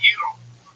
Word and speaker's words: gyro: Don't make me a gyro, Giannis. Okay. Whoa. That's going to the line. That's racist. That's racist. I'm half Turkish. I did my DNA. I'm a rape baby. So, And it's pronounced Euro.